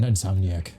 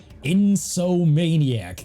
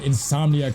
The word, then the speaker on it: Insomniac: I never knew what the fuck the word insomniac was. I could pronounce sucker punch, naughty dog, but I used to say insomaniac.